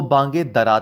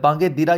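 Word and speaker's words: بانگ درا: जो बुक थी वो बांगे दरा थी। अब ये बांगे दिरा या बांगे दरा ये दोनों प्रोनाउंसिएशन है।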